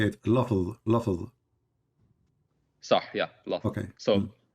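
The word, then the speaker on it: لفظ: Lafz.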